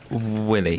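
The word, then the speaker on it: Wiley: pronounce it Ollie can you how would you pronounce it Willie thank you very much indeed can we clip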